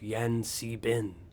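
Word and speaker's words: Yan-C-Bin: They follow the path of Yan Si Bin, the Prince of Elemental Air. How do you spell that?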